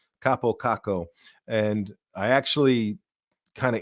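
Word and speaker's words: Kaapo Kakko: proper way to pronounce Kappo Kakko. And I actually kind of integrated it into if he's in the starting lineup, because it fits better to have the little pause.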